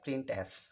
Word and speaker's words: printf: The function प्रिंट एफ is pronounced as प्रिंट एफ। तो जो function प्रिंट एफ है इसको प्रोनाउंसिएशन जो उसकी बनेगी यानी प्रिंट एफ इस तरह बोला जाएगा इसको।